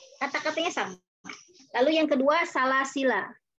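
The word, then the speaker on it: سلاسلا: Yang pertama, alifnya betul-betul tidak dipakai, ya. Jadi ketika wasol tidak dipakai, salasila pendek saja, la-nya pendek, ya.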